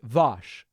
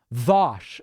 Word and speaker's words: Vaush: Vaush is pronounced Vosh, like Mosh Pit or Daniel Tosh. Oh, okay. Wish somebody had told me that up front. I've been sounding like an idiot the last hour. Vosh, V-O-S.